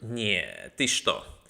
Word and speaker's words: нееет: Multiplicatio by the group neeet. You have to say it like that too.